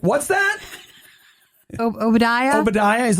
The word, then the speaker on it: Obadiah: like what's your name and I was like oia he's like what's that oia oia he's like could you spell that for me he wasn't getting it I